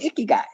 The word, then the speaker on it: ikigai: ikigai i k i g a i it's pronounced like ooh icky guy but it really means a little Wiki guy it's a good thing icky guy but but icky guy is um it's about you finding your purpose